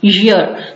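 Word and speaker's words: year: और जो तीसरा लफ्ज मैं आपको जो है वो बताना चाह रही थी वो है ईयर, जिसको हम अक्सर ईयर बोल देते हैं, मतलब वो कान वाला ईयर जो होता है वो बोल देते हैं। ये ईयर नहीं है, इट्स ईयर, ईयर इसे बोलते हैं, यानी वाई जो है वो साइलेंट नहीं है, उसको प्रोनाउंस किया जाता है।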